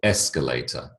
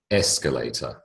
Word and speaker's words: escalator: and the last one first syllable escalator escalator okay so the emphasis on the first syllable and again you do